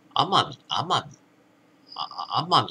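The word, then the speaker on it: 天海: 天海って読む。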